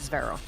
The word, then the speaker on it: Zvero: did join the LEC, we were given a voice memo by their team manager with exactly how his name is supposed to be pronounced, and it told us Zvero.